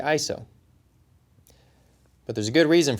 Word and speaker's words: ISO: organization for standardization and the correct way to say it is ISO I'm be